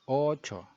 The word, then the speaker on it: ocho: Spanish is alas ocho. So you have a double O in ocho. So it's a bit longer.